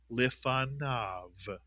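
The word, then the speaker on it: lefanav: Yes, it stays lifa mitsuyan. But the second syllable is now nav mitsuyan nav as if there were no yud there at all. Nav and the word as a whole becomes lifanov.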